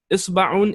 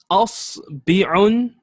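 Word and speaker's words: إصبع: You can either say isba'un, as you can see here, or you can say asbi'un, asbi'un with a kasra on the ba, or you can say asba'un with a fatha on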